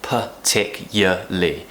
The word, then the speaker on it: particularly: about the word particularly there are different ways of pronouncing it when we're talking fast most people will probably just say per tick yeah Lee particularly and that's just us being lazy it's us avoiding saying long word particular but really you